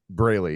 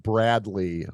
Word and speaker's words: Braley: pronounced something differently yeah I get called Bradley a lot they think there's a d there yeah somehow some way somebody's dyslexic and they they find a D in there you know it was